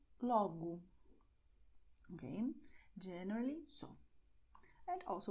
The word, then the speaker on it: logo: And the letter O at the end of the word is pronounced as U. So you're going to say obrigado como logo.